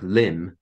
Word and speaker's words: limb: But in the early days of the printing press, printers were writing words like limb, L-I-M-B, even though that B never existed. Limb was always pronounced as in L-I-M.